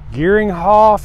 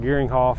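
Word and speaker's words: Geringhoff: going to sell and i'm gonna pronounce this rom with this gearing hoff i believe it's how they say it greg you all know what i'm talking about gearing hoff head it's got a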